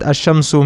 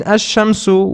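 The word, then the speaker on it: الشمس: Remember we studied about ashamsu and alamaru and I told you that ashamsu means the sun and alamaru means the moon. In ashamsu we do not pronounce the lam and in al kamaru we do pronounce the lamb.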